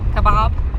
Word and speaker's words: Kaibab: Kaibab.